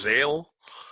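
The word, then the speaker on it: X Æ A-Xii: Yeah, apparently it's pronounced Zale, but I don't see an L anywhere in there.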